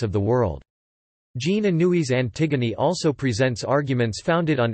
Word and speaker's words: Antigone: of the same name, Antigone, by Sophocles from the 5th century BC. In English, it is often distinguished from its antecedent by being pronounced in its original French form, approximately Antigone.